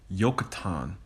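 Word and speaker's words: Joktan: name is actually pronounced yatan because there is no J in the Hebrew language that's where I believe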